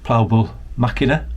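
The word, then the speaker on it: Plaubel Makina: I spotted your Hasselblad, and as we talked you pulled out more heavy artillery in the form of a Ploughbull Machina.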